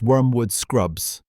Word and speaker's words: Wormwood Scrubs: Wormwood Scrubbs is pronounced Wormwood Scrubs.